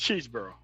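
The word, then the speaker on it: Chesebro: You weren't you weren't talking to Kenneth Chzboro, were you? Or Cheeseboro, however you pronounce his name. No, it's No, it's Cheeseboro.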